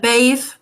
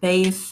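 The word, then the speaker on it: Badb: that's right um I I misplaced yeah so bathe is how i pronounce it bathe there are people who say that I say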